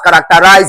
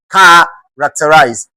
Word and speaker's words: characterize: As far as characterize is concerned, the focus should not be on the normal format that is being used here. You are expected to stress the first syllable in this.